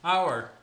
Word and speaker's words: hour: hour. 앞에는 어가 맞나요? 언이 맞나요? 예치인데? 그 발음이었네.